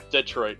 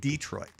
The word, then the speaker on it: Detroit: If you want to piss off somebody from Detroit, pronounce it Detroit. Because when I say the Lions, I say Detroit Lions. When I say just the city, I say Detroit. But otherwise, it's the Detroit Lions. I don't know why I do that, but that's just how I pronounce it.